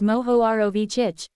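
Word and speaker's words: Mohorovičić: material this layer is called the mahorovichik discontinuity pronounced as moho ROV chich and moho for short it is named for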